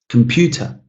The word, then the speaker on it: computer: to make sure that the listener knows which syllable in the word I want to stress. Computer is a good example here.